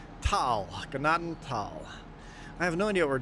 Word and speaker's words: Gnadenthal: They were pronouncing Gennadal right, but everybody else was saying notal. Pronounce the G. Ganaden. Don't pronounce the thign Ignore the H. Tal. Ganaden. Tal.